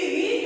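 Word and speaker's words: ऋ: बच्चों, ये री जो है इसका उच्चारण री की भांति होती है।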